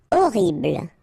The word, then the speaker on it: horrible: Horrible. Okay, remember we don't pronounce H here.